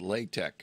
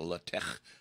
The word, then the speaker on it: LaTeX: One's called HTML and one's called LaTeX, or technically that's pronounced LaTeX, I believe.